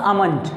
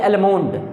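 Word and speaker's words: almond: एम ओ एन जी तो correct जो होता है इसकी प्रनंसीएशन होती है अमन अमन ना की आलमंड बजाज अमन जो उसकी प्रनंसीएशन होती है अमन ए एल एम ओ एन दी L silent है आपका होगा अमन अगला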